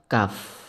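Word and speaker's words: كاف: Adapun untuk cara membacanya, untuk huruf kaf di sini harus berhembus atau keluar angin. Nah, kenapa kok bisa begitu? Dikarenakan di sini kaf mempunyai sifatul huruf yang mana dinamakan huruf hams.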